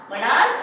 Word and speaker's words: monarch: अब monarch और stomach दो ऐसे वर्ड है। monarch और stomach take s in place of es because their pronunciation end with k, खा in place of cha।